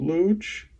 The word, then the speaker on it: Looch: We can also maybe get a sense of why he wanted to be called Looch, because his Uncle Cooch rhymes with Looch.